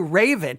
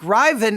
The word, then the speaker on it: Ravyn: way it to me, Raven makes sense, but it's kind of Raven. I mean, if you even listen to that. Ravyn Lenae. Ravyn Lenae. But I listened to a number of pronunciations online, and some of them did fall over into Raven. But I think Ravyn is the correct way.